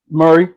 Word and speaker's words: Murray: Did I pronounce that correctly? Murray, it's straight. It's straight. Murray.